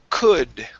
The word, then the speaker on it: could: Next up is the word could. Instead of saying ku with an U sound, it's could.